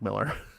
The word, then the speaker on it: Millar: actually Mark Miller but he pronounces it Miller that's the one I was thinking of not there also is a Mike Miller yeah sort of like uh yeah his name gets mispronounced the same way tinians does yeah I mean I remember he came out a couple years ago I said no it's actually just Miller I guess with the a everybody just assumed fragmenting